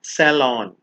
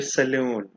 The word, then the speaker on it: salon: toris higher Ary embroidered hair salon not hair saloon extravagant berry berry means